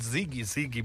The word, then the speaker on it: ZiG: It becomes easy to pronounce it ZiG, but it becomes easy to write when you say ZWG.